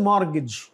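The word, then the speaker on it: mortgage: और ये इसमें कौन सा लेटर साइलेंट है, T, this is मॉर्गेज, मॉर्गेज।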